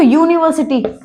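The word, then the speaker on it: university: अब देखो यूनिवर्सिटी English का वोवेल है लेकिन इसका जो साउंड आ रहा है वो कैसा आ रहा है? य और य कब आता है? य आता है कोंसोनेंट में।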